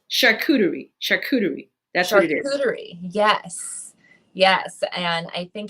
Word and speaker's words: charcuterie: so i'm gonna take it slow but it's charcuterie yes yes and i think it is one